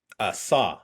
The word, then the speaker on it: Xob: Saw. So it's like S- SAW. Saw.